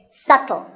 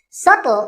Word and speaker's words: subtle: you say it it's subtle the b is silent subtle means something that is